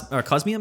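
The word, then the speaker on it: Cosmoem: But here is the Cosmog uh and uh the Cos Cosmium is how you say it.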